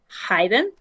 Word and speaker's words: hidden: Hidden? Aha. It is hide in the infinitive, so hide, but this one is with a short e, hidden.